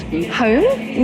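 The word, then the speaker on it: Hown: It's a place called home. Not spelled home though. It's spelled H O W N.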